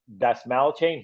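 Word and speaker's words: Dastmalchian: I think it's pronounced Dasmalchain.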